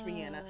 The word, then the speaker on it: Rihanna: It's not Rihanna, it's Rihanna. So because of this episode, I'm going to try and say it the proper way, sis. Okay? Rihanna, because I know she's going to see this one day.